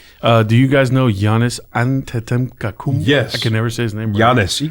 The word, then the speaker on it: Giannis: do you guys know Giannis and yes I can never say his name Giannis you can just say honest yes he's The Greek